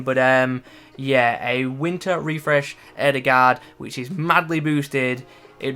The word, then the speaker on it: Ødegaard: Martin Ødegaard, or Ødegaard as I believe it's meant to be pronounced, has obviously joined